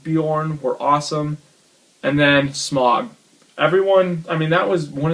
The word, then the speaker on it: Smaug: And then Smaug.